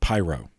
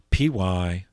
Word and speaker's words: Pyrrho: His name, this guy, was named Pyrrho, Pyrrho. I've also seen it spelled with an N at the end, Pyrrhon.